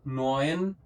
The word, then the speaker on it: neun: फिर नॉइन, यू बन गया ऑय, नॉइन, नॉय और न, नॉयन।